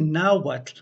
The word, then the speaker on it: Nahuatl: so with some practice you can begin to pronounce the T sound which occurs at both the beginning of many syllables and now what but also at the end in fact it is in the very name of the now what language so with that you